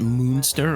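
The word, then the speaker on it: Munster: Is it monster or monster as in Herman Monster? It's spelled M U N S T E R.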